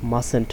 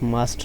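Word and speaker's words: mustn't: মাসেন্ট, নট মাস্ট, নট উচ্চারণ হবে মাসেন্ট, উচ্চারণ হবে মাসেন্ট।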